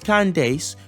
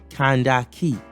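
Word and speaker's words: Kandake: slap the taste up nope not Candace that's the anglicized sort of bastardized version of an ancient African word properly pronounced kandaki this was what the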